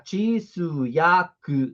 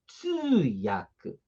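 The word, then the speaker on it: 通訳: Porque aí você vai tisuyaku. Não, é tsuyaku. Ah, e ainda a gente alonga, né? Tsuyaku.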